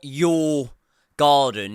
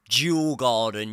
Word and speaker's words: Djurgården: semifinal first leg when we come up against your garden. Not your garden, it's your garden. Your garden. I'm pretty sure that's how it's pronounced.